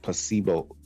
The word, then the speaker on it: placebo: And I wanted to talk about also the placebo.